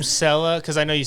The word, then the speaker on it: Selah: was like, yeah, that's Sella in my head. So that's Yeah. how we went with it. Really? Yeah. Huh. Yeah, and a lot of people still pronounce it Stella, but it's just Sella.